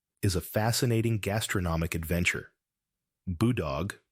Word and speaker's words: Boodog: Boodog, pronounced Boodog, involves a goat being cooked from the inside out, a method that demands culinary bravery.